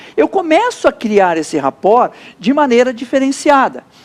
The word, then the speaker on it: rapport: francesa que se diz a rapport.